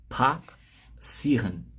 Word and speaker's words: passieren: Passieren. Passieren. A sílaba tônica fica em cima dessas duas vogais aqui, ó, I mais E. Então, passieren. Sílaba tônica aqui, passieren, beleza?